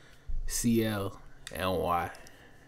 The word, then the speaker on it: CLNY: her name and that's how she told me to pronounce it just say the letters so yeah c l and y she got this project